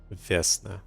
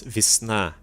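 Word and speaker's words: Vesna: Vestna, man, it's Vishna. H, that's a really hard one for me to just like say, "Yeah, yeah, we'll pronounce it the way that they want you to pronounce it." No, Vishna. It's a season.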